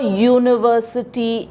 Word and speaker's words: University: write or before University U is a vowel but the sound of you is why you the sound of you is why you and why is a consonant so therefore we use